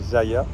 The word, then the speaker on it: Zalla: Alors ça s'écrit Zala, mais en espagnol on dit Zaya.